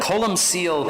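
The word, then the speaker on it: Colm Cille: is so Cola and it's interesting because that's an anglicized version of it column seal it was the actual name but he was a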